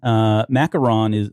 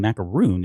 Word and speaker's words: macaron: Macaron looks like it's the English pronunciation. Macaroon is the French pronunciation.